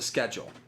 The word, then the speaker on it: schedule: and I pronounce, he starts it with a shed and then he corrects himself to schedule.